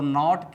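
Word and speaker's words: knit: दोस्तों, यहाँ भी आप देख रहे हैं कि नीट से पहले साइलेंट लेटर के आया है।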